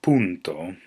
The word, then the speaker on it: punto: The dot, as we know it is in .com or .edu, is actually pronounced punto, which is also the word for period in Italian.